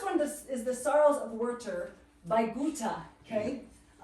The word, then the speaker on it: Werther: You pronounce the TH as a tough sound. And it would actually be Werther, because the W is a V.